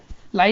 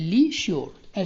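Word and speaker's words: leisure: लिशियो, next spelling है लिशियो, LEI ली, ठीक है। यहाँ पर झूठ नहीं है, लाई नहीं बोला मैं, ली बोल रहा हूँ, LEI ली श्योर, SUR ली श्योर, ठीक है, खाली समय।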